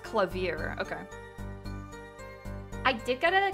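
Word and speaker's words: Klavier: __ ] it oh it's pronounced clavier okay I did go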